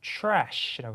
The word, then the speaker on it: trash: trash라고 하시면 됩니다. 그죠? TR은 TH 사운드로 바뀐다고 생각하시면 돼요. 그래서 촤 사운드요. 해보세요. trash. 자, 오늘 발음으로 trash, 이렇게 하시면 됩니다.